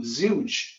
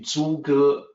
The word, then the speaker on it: 诸葛: As a native English speaker, you could look at that and say, oh, Zhuge, like rhymes with huge. That's his name. No, it's actually 诸葛.